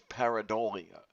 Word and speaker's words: pareidolia: Um, they have the accent on the third syllable, so it's pareidolia. Oh. What I think of, what I hear in my head is pareidolia.